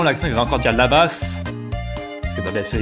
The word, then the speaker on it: là-bas: Parce que bah, bien sûr, il prononce les lettres qui ne se prononcent pas normalement en français, les lettres muettes. Il n'y a qu'en français, donc il va le prononcer la basse, là-bas.